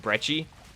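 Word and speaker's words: Breci: But, alright, so yeah, we'll pap the Brecci I keep saying Brecci, but I think it's actually Brecci. I originally, back in, like, 2017, pronounced it Brecci, but then I switched to saying Brecci for a long time. But I guess it's actually Brecci, with because the double C.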